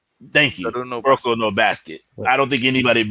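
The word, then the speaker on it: Kuroko no Basket: And honestly, I don't think anybody would argue with Kano. God damn it, I always get the name wrong. Say it for me, Steve. Rocco no basket. Thank you. Rocco no basket.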